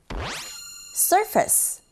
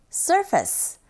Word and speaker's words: surface: All right, move on to the second listening point, which is surface, surface. 자, 발음하실 때 F 발음은 윗니로 아랫 입술 살짝 밖에서 안으로 긁어주시면 되고요.